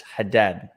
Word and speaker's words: Haddad: easy it's not easy it's haddad haddad had dad head down like pretty had dad had dad tony